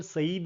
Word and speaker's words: Said: work लिखा है Edward सईद ने ने spelling S ए आई डी बोला जाता है सईद एडवर्ड सईद का यह